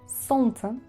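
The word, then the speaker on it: солнце: esa complejidad de pronunciación, lo que hacemos los rusos es eliminar la letra L o la letra más compleja que no pegue mucho en la pronunciación. Así que en este caso es la L.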